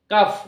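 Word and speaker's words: cough: ও ইউ জি এইচ কাফ অর্থাৎ এই জি H letter দুটি যখন ওয়ার্ডের শেষে থাকছে এবং জি এইচ মিলে যেখানে বাংলা ফ এর মত উচ্চারণ হচ্ছে সেখানে এই সাউন্ডটা উচ্চ থাকছে না তো এই বিষয়টা মাথায়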